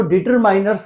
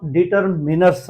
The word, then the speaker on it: determiners: बहुत से व्यक्ति स्टूडेंट इसको डिटरमाइनर्स कहते हैं, ये इसका रॉन्ग प्रोनाउंसिएशन है। इसको क्लियर प्रोनाउंसिएशन इसका डिटरमिनर्स है।